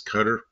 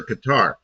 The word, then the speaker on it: Qatar: I asked him, is it Qatar or Qatar? He goes, in Arabic, there's no accents on any syllables. They're all the same. He goes, it's kind of somewhere between Qatar and Qatar.